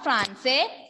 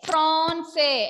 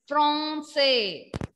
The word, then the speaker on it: Français: Not Francais, Français. F-R-A-N. A-N when comes in French, pronunciation will be O. A-N when comes, pronunciation will be O. Nasal O sound. Français.